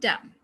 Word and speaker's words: damn: column condemn him and damn this n sound is not pronounced okay if it comes